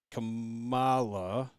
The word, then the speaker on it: Kamala: I don't want to say it wrong. It's Kamala. There you go. Okay. You got it. Because I have mispronounced it, like the VP's name. But spelled the same for the record.